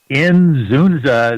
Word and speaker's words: Inzunza: Inzunza is how you pronounce it, but it doesn't look that way when you first have to encounter it.